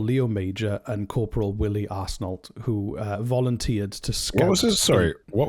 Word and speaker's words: Arsenault: Arsenault. Arsenault, I believe. I think that's how you pronounce it.